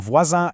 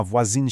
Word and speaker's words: voisin: But later, we see je parle souvent avec ma voisine chinoise. I often speak with my Chinese neighbor. Because voisin is feminine and adds an e, that nasal sound totally disappears and becomes a hard in, voisine.